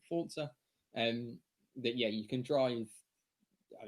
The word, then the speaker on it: Forza: But also a game called Forza Motorsport 7, which is Forza, but it's Italian, so you pronounce it Forza.